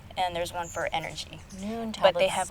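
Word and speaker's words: Nuun: Same thing with Noon tablets. They are just really they have different kinds. There's one for sleep. There's one for vitamin C, like immunity, and there's one for energy. Noon tablets.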